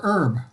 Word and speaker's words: herb: is it herb or herb it's herbs it's herb that means that's a silent h okay of herbs and